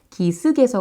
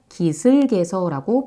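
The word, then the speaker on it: 기슭에서: 기본적인 덕목이 아닐까요 그래서 교양 있게 발음 하시기 위해서 기스 게서 아니라 기슬 게서고 표준 발음해 주시면 더 좋겠습니다 자 그리고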